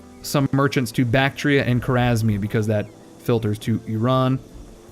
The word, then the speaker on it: Khwarezmia: want to put him in Khwarezmia, or Khwarezmia, I should say. Missing a syllable.